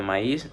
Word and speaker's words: maíz: Ahora vamos con el ejemplo de maíz. se divide en dos, que sería maí, ma y is. La i lleva tilde, entonces se separa de la vocal anterior.